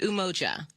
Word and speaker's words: Umoja: Yes, it's Umoja today, which is a celebration of unity.